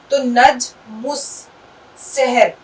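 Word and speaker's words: نجم السحر: देखो, लैम का उच्चारण कहीं भी नहीं किया जाएगा। चाहे यह दो शब्दों को जोड़कर बने शब्द से पहले आए , या शब्दों की शुरुआत में आए, यह मौन ही रहेगा।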